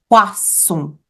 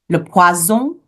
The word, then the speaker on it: poisson: If we get a little lazy and we pronounce it with a Z sound, le poison, then we are ordering poison. So le poison with a Z sound is poison, but le poisson is fish with an S sound.